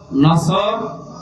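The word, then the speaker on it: نصر: আয়াতে না তিনটা সূরা তিন আয়াত বিশিষ্ট আসর নসর কাউসার তার ভেতরে একটা পড়েছি এটা তেলাওয়াত শুদ্ধ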